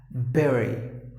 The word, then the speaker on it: bury: Just imagine that instead of letter U, you got the letter E and then pronounce it as per the spelling. And that's the way you got it.